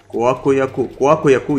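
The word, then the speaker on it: Kuaq Yaku: Kwakuyaku, yeah, it's the right way to say it, man. Wow. Just you need to say it like that.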